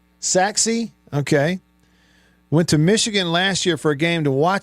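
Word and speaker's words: Sachse: Uh orgy for coach Mullen is the former quarterback for Forest here in the Dallas area at Sash High School. Pronounced what? Saxi.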